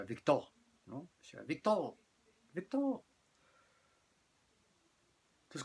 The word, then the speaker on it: Victor: Entonces le puso Víctor, en francés se pronuncia Victor, ¿no?